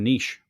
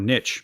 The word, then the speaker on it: niche: power of a niche or niche, depends where you're from and what word you're rhyming with.